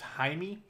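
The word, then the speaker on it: Jaime García: Also, I learned that this guy's name is pronounced Jaime Garcia, so I've been calling him Jamie Garcia.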